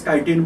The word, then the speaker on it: chitin: don't write down K it is pronounced as kiteen but we have to spell out as chitin so this is the